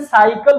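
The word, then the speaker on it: cycle: ऐसे देखिए, सी बाई सी एल, इसको क्या बोलते हैं? साइकिल बोलते हैं। क्या बोलते हैं? साइकिल। और साइकिल में सी का जो उच्चारण है वो क्या है? सा है।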